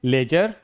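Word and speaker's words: ledger: अगला है लेजर। डी के बाद जी। लेजर का मतलब होता है वही खाता।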